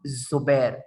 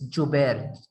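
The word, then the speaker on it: جبير: जुबैर, इट्स नॉट जुबैर, ठीक है। मेरा प्रोनाउंसिएशन गौर से सुने, इट्स नॉट जुबैर, ठीक है, इट्स जुबैर, जे है, ठीक है।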